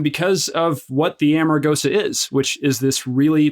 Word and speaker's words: Amargosa: it's a nice way to remember how to pronounce it it's Amarosa okay so if uh what is the origin